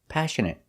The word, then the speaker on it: passionate: We're going to practice words like passionate, compassionate, affectionate, template, pomegranate, appropriate, and inappropriate. Let's get started. Our first example is passionate. Passionate. The stress is on the first syllable.